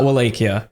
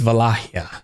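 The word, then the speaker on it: Wallachia: It's not Wleakia, it's Walakia.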